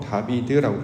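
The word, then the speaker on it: דָּוִד: 다윗의 시라고 하는 것은 다윗이라는 인물이 기록한 글이기도 합니다만 중요한 의미는 다윗의 모양이 어떠한지를 우리가 살펴보시면 다윗은 히브리어로 다비드라고 발음을 합니다.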